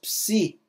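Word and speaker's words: ψῖ: nosso PS de Psicologia nosso PSI essa essa consoante aqui é o psi em psicologia tá o nosso PS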